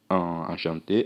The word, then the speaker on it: enchanté: Enchanté, enchanté. No feminino tem a diferença. Leva um E no final. Enchanté, enchanté. A pronúncia é a mesma.